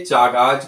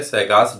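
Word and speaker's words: Chagas: ये स्पेलिंग इसकी है चागाज डिजीज, तो ये इसे कहते हैं, कहीं कहीं पे चागाज पढ़ते हैं, कहीं कहीं सैगास पढ़ा जाता है, शुद्ध है सैगास डिजीज।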